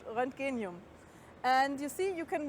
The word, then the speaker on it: Roentgenium: an name which is really difficult to pronounce renum which is named after ran the discovery of X-rays I just find that